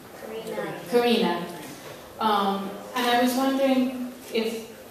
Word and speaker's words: Karina: How do you pronounce her name? Karina.